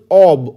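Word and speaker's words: of: ক্যাপেবলের পরে আমার আমাদের প্রিপজিশন বসবে হচ্ছে capable অব অব ও এফ কিন্তু অফ নয় ও ডাবল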